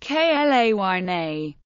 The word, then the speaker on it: Kleene: Kleene, or Klein, Kleene, Kleene himself pronounced it Kleene, Klayne. His son, Ken Kleene, wrote, "As far as I am aware, this pronunciation is incorrect in all known languages. I believe that this novel pronunciation was invented by my father."